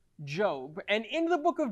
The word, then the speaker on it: Job: find ourselves in it's spelled like job but pronounced job and in the book of job there are